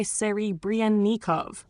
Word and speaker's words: Serebrennikov: Try Serebrennikov, emphasizing Bren and softening the consonants where marked.